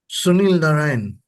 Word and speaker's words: Sunil Narine: Sunil Narine.